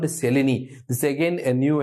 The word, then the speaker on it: Mseleni: Then MSELENI, it's called, M is silent, pronounced as Seleni osteoarthritis.